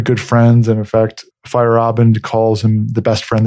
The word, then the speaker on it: Feyerabend: uh name pronounced correctly i said fairband it's fire fight or fire robin sorry about that fire obviously yeah fire up yeah you gotta remember that a in the in the middle of it so he